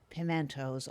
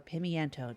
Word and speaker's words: pimento: And there's just pictures of pimentos all over the place, because Shane's Olive Shack is very pro pimento or pimiento, depending on how you want to pronounce it.